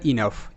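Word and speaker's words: enough: next E এন ও ইউ জি এইচ এটা ইনাফ ই এর long sound E এন তে ন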